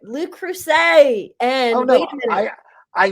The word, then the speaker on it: Le Creuset: Le Creuset.